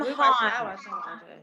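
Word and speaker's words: Heughan: Sam Hahn. I think Sam Hahn. And the Hahn is spelled in a weird way, like Haughn.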